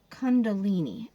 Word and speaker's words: Kundalini: Kundalini.